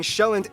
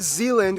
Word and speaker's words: Sjælland: With the largest island being Sjælland, not Zealand, which is not to